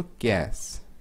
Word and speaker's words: cache: तो इसका pronunciation कैश है, ठीक है। कैश इसको बोलना है, मतलब पैसा वाला कैश नहीं है, ये कैश है। वो कैश है और ये कैश है, CACHE।